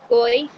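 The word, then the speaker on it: גוי: Goy. The goy as in Gentile. Goy as in Gentile. That's how you pronounce goy or Gentile.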